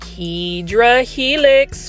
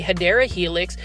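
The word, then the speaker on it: Hedera helix: term but you know just like hedra helix or the correct way to say it is the hadera Helix um Celine plants whenever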